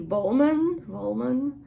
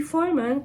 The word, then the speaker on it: Vollmann: Wollman. In German he would be Vollmann, because we pronounce the V as an F. Vollmann, who's very prolific, and he's an interesting fellow,